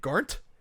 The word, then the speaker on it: Garnt: Garnt? Yeah, Garnt. Yeah. Joey and Garnt talk about how Futaba is the type of girl to say poggers in real life, and oh my god, Garnt cannot be more correct.